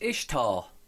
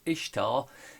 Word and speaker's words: Ishtar: This is Ishtar, pronounced Easter.